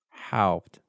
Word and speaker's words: Haupt: I usually tell people to pronounce it as if you were saying how, like the question with a PT on the end. Haupt. It's like one syllable, but some more.